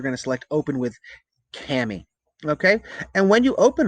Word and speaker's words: Kami: introduced to this summer which was by the way rhymes with clammy all right cami it's not kamey or kami it's cami okay it allows you to